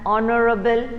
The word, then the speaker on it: honorable: we say an r then an honorable man it is honorable man no we don't say that we because h asylum here your pronunciation starts from the o sound now the next one